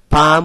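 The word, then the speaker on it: palm: আই কাট মাই পাম এটা এল উচ্চারণ হবে না পাম উইথ আ শার্প নেইল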